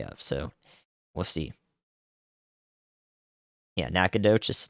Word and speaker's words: Nacogdoches: on the day of so we'll see yeah Nacogdoches nakadish in Louisiana I've learned a lot but there's always learned more to learn about pronunciations where would I have positioned on last